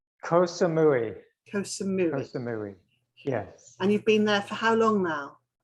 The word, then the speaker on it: Koh Samui: Have I pronounced that correctly? Koh Samui.